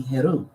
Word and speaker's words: Horus: which they called him Horus but the pronunciation would be heru and so we got